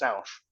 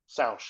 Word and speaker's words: Sanche: well, it's a French last name. Okay. It actually spells out Sanche. So it's Sanche, but it's French, so it's pronounced Sounche. Sanche. Sounche, yep, exactly.